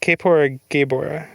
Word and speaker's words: Kaepora Gaebora: I don't know how to read these pronunciation guides. Kaepora Gaebora, which I guess if it's just Japanese, yeah, it would be Kaepora Gaebora.